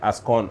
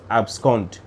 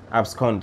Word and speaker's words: abscond: known as abscond abscond sometimes i hear some people pronounce it and you get to laugh and they say as con or something no guys it is abscond abscond that is a b s c o nd i am not against